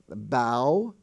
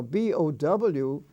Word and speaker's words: bow: And you find it in such words as bow. Now, B-O-W is pronounced bow, but B-O-W is also pronounced bow, as in bow tie, a bow tie. But bow is when you bow before a sovereign.